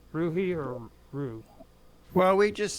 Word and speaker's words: Ruhe: say your last name rui rui or Rue well we just say Rue although the German pronunciation is Rua but we just say Rue in English Okay so ruer